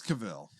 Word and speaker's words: Cavill: saying let's find out look up the cable pronunciation it's Cavill so basically uh Snyder's original plans were to